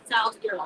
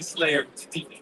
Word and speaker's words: Salzier: So my last name is pronounced Salzier. Salzier. Yeah. Salzier. Saber is my Slayer. So that's names like you can mess up and call me Slayer.